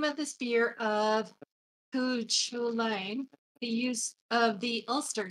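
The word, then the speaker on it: Cú Chulainn: had to find out and made sure it's Cuchulain. Cuchulain. Cuchulain. Well, then, how do you spell or pronounce the fact that it was given to him by his martial arts teacher, the warrior woman?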